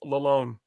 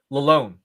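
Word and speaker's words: Lalonde: And Tyler actually reached out to me this week just to tell me that his last name is pronounced Lalone. Lalone. It's a silent D.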